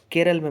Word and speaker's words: केरलम: और केरल का अब नाम बदल के केरलम हो गया है। तो ध्यान रखेंगे हम केरल का उच्चारण केरलम के रूप में ही करेंगे अब। ठीक है?